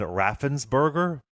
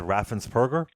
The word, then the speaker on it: Raffensperger: georgia secretary of state brad raffensberger i'm sorry brad raffensperger could be saying his name wrong yeah that's very interesting